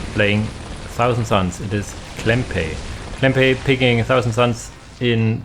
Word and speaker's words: cklempay: But yeah, the openers for cklempay, cklempay, it's normally pronounced.